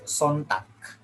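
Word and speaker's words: Sonntag: know yeah no okay in german it's sontak it's a song in german in in dutch it's sondag yeah it's the same it's almost the same okay good great uh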